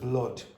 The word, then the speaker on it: blood: Okay, so a lot of students come up to me and ask me, oh, how do you pronounce that word, blood? And they expect it to sound like something like Luke, okay?